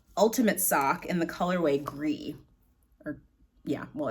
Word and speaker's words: gris: Yeah, well, it's Gris, so it's gris in French. I don't know how they pronounce it. Maybe people call it grise. Don't know, but that's what it probably should be.